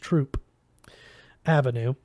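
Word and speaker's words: Throop Avenue: and sure enough just pass through pronounced Troop Avenue there it was it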